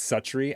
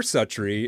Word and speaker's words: Suttree: Cormac McCarthy's SUTTREE, or I think you say it's SUTTREE. I heard somebody pronounce it a much more pretentious way than that once, but I'm going to keep calling it SUTTREE.